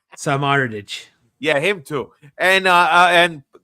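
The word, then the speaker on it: Samardžić: 2-1 thanks to a winner by some Samodardic. I can never pronounce this guy's name. You're saying you know how to pronounce. Samardich.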